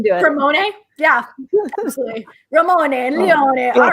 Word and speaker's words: Leone: It is actually, everybody calls me Leone, but it's Leone.